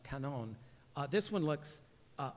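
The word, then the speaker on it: 観音: And then in Japan, uh, canon, it's pronounced canon.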